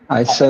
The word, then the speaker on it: Seoul: Seoul. You said that very well, Adam. You said it just like a Korean. You said it with a 2 syllables.